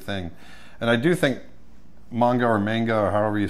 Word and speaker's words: manga: Manga or manga? Yeah, it's pronounced manga, but a lot of people say it's manga.